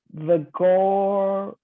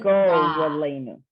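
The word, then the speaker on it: וְגוֹרָלֵנוּ: you're bringing together the O and the resh. The Yeah. syllable ends at the O, the go, gora, and then v'goralenu. Got it. Ralenu, okay? Okay, Because the Okay. resh has its own vowel, you don't combine it with the vowel before.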